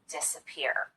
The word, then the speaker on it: disappear: not quite as noticeable an example of secondary stress would be the first syllable in this word disappear we do spend some time on this syllable and we do make the vowel louder and longer but not quite as much as we do on this last syllable the third syllable peer if both of these